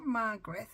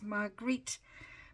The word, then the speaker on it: Margrethe: to apologise most sincerely, it's not Margreth, it's Margrethe, but not being close to Holland and not really realising that's how you pronounce it.